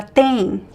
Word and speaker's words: tem: Ela tem. Pronunciation, pay attention. We don't pronounce the M sound, right? At the end of words in Portuguese, we pronounce as the N.